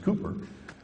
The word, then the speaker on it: Cowper: We're here in England, where the poet, it's spelled Cowper, but it's actually pronounced Cooper, said he works in mysterious ways his wonders to perform.